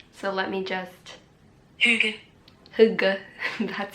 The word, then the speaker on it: hygge: Hygge, that's how you pronounce it.